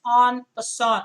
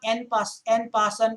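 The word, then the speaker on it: en passant: is it on person that's a french word again and the pronunciation is on the song it's not n pass n passant or something it's a french term so it's on on percent or is it fianchetto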